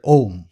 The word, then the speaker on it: Om: Now the usual interpretation of Om is that it's divided into 3 syllables of A, U, and M.